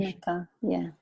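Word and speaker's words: Unci Maka: Is that the correct pronunciation? Unchi Maka, yeah.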